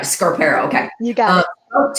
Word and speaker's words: Scarpero: Scarpero.